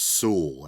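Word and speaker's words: Sewall: believe it is pronounced Sewell as in you rhymes with jewel so there you go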